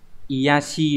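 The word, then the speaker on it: 卑しい: Thì cái từ này sẽ đọc là iyashi đúng không?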